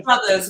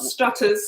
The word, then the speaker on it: Struthers: Struthers, not Strutters.